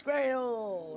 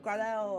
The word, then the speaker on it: Gradel: It's Max Gradle, not Gradel, and I do agree with you on that one.